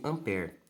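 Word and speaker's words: ampère: é a então a a escrita dessa maneira Ampere não só porque quando a gente vai pronunciar a pronúncia é sem esse último é aqui tá então eu eu escrevo dessa maneira no entanto a minha pronúncia é sem esse último Então eu pronuncio ampér tá então o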